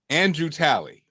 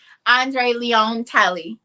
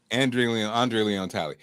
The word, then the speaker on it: Andre Leon Talley: So Andrew Talley, who passed away, right? Andre Leon Talley. Andre Leon Talley. Denise, say it right.